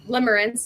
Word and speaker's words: Limerence: One of them is his, Limerence. I have a hard time pronouncing.